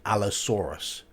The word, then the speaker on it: Allosaurus: hear you've got Allosaurus a u r in British English is or so be Allosaurus I know it's a